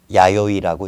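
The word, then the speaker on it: 弥生: 야요이라고 읽습니다.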